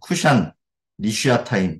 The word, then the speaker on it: 구산 리사다임: 그리고 구산 리사다임은 똑같습니다. 그냥 좀 더 세게 발음해 주시면 됩니다. 쿠샨, 리슈아타임 이렇게 하면 되는데 그러니까 이걸 합치면 아람 나하라임, 멜렉, 쿠산, 리사타임입니다.